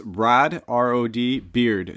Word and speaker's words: Rod Beard: It's Rod, R-O-D, Beard, just how you like a beard on your face, just how you'd spell it.